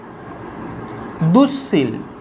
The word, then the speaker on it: দুঃশীল: আরও কিছু শব্দ আছে দেখো, যেমন দুঃশীল, দয় হস্য উ বিসর্গ তালবস্য দীর্ঘ ল, দুঃশীল। দেখো দুঃশীল, তালবস্যর আগে বিসর্গ আছে, তালব্যস্যর আগে, তাহলে কি রূপ উচ্চারিত হবে? না, তালব্যস্যটা দুবার উচ্চারিত হবে।